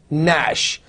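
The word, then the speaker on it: gnash: or G like you have may've no not Nash see I'm pronouncing knave no not Nash K is there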